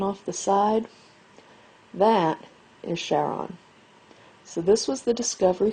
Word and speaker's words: Charon: to cross the river Styx and Charon actually pronounced Charon in mythology was the boatman that would take